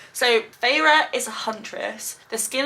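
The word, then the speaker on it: Feyre: you pronounce her name I'm going to go far far fire fire f e y r e far far far let's go Fara so farra is a Huntress the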